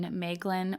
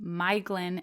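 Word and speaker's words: Maglor: helpful she shared that the Mae sound in maglin or maos as I had been pronouncing is actually pronounced my so it is actually my Glenn and my thros um I had honestly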